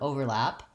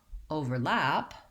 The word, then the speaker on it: overlap: want to have more i'm slightly louder on the first syllable i'm going slower there's more duration there and i'm going quickly on the second syllable so for example the noun overlap would be we have